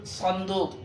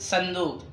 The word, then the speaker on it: صندوق: طيب فلا نقول صندوق بالأردية بل نقول صندوق، كأنه يبدأ بالسين في النطق. مكتوب بصاد ولكن ينطق بسين ونقول صندوق.